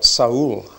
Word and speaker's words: Saul: we should say, and Saul, or Saul, as if you pronounce his name the Hebrew way, and the people that he related to are Israel.